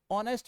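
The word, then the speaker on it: honest: तो जब आप इस सेंटेंस पर गौर करोगे तो आप क्या कहते हो कि सीधे तौर पर देखो ऑनेस्ट में देखो ऑनेस्ट में एच का उच्चारण साइलेंट है तो यहां साउंड किसका है?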